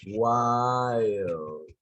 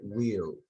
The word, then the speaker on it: while: While. Dijiste will. While. Como while. It means mientras. While. Se escribe will, pero se dice while.